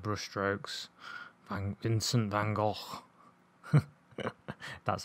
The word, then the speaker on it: van Gogh: the master of brush strokes I'm in sin van Gogh that's how you say his name and I